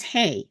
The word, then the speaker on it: He: different sound okay but this one is hay the air goes freely out of this window if you put your uh uh fingers on on your uh above the chest between the uh neck and the chest and say Ah that's the sound ah okay that's the sound